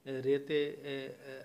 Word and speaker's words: রে: আর আপাতত মনে রাখবেন যে রেতে রা লেখা থাকলেও গাওয়ার সময় রে গাইতে হবে, নি লেখার সময় যদি দেখেন যে কোথাও না লেখা আছে তাহলে সেটা নি গাইতে হবে।